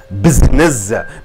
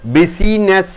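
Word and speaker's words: business: பிட்டுன்னு சொல்லுவீங்க இந்த ஐயனுடைய உச்சரிப்பு பிஸ்னஸ் பிஸினஸ் என்று சொல்வதில்லை பிஸ்னஸ் இந்த ஐ உச்சரிப்பு ஷார்ட்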